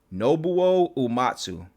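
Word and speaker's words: Nobuo Uematsu: with his name how you say his name nobuo umatsu did i say that right you got it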